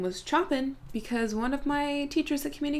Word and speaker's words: Chopin: I thought her name was Chopin because one of my teachers at community college told me it was not pronounced like the composer unless I completely misheard